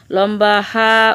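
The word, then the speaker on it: ح: লম্বা হা উচ্চারণে গলায় শোষ শব্দ হবে, নইলে গুল হা অথবা গোল হা আদায় হয়ে পড়া হারাম হয়ে যাবে।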